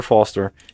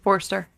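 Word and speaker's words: Forster: like an ass uh did I say it right wrong no Robert Foster he um Forester Forester mhm he says uh basically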